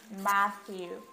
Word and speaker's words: Matthew: Mathieu, ça va se lire Matthew. Matthew. Observez très bien mes lèvres et essayez de répéter après moi. Matthew. Donc, le TH, ça va faire comme ça. Matthew. Mais ça doit être sur la langue.